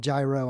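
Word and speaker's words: Jairo: podcast i interviewed hydera spelled j-a-i-r-o they call him gyro on the right on the right wing uh during the march because uh not the spanish pronunciation but his young hispanic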